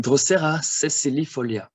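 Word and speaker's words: Drosera sessilifolia: The S is S, never Z. Like in Drosera sesilifolia. A and U is also a diphthong, AU, like in Utricularia australis, and not australis.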